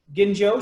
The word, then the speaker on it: Ginjo: that you're gonna find and that's also with a hard G dye dye Ginjo and then the one